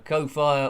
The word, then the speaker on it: Ko-fi: So thank you, as I say, to the members, and anyone that's ever done a Ko-Fi, or Coffee to pronounce it better, or a Super Chat, because I do store those up.